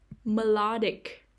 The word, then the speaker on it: melodic: the second syllable emotional melodic melodic the stress is on the second syllable melodic in person in